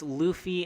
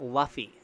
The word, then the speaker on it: Luffy: Matic and yes by the way that is pronounced Luffy and not Luffy if you hear anybody ever read this and